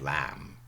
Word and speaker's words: lamb: Modern English we have lamb without the b.